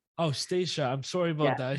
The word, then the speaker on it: Stacia: And just a reminder, my first name is pronounced Stacia. Oh, Stacia.